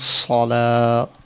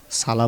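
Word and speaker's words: الصلاة: হাইয়া আলাস সলা সালা বললে হবে না। সলা বলতে হবে।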